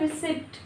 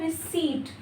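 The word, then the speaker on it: receipt: उसके बाद है रिसीप्ट, इसको हम बोलते हैं रिसिप्ट, this is नॉट रिसिप्ट। यहाँ पर पी साइलेंट रहेगा, इसको आपको पढ़ना है रिसीट, रिसीट।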